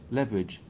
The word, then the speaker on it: leverage: What we're doing is we're deleting the E and we're pronouncing the A as the second option, which is E. So look. You're pronouncing it as if it's like this. Leverage. Leverage. No? You're actually sort of saying leverage. Leverage. That's it.